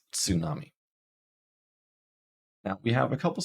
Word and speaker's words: tsunami: the word tsunami so in English we would write tsunami and we'd probably pronounce it without the T but in Japanese you would pronounce it with the T as one sound with the S tsunami now we have a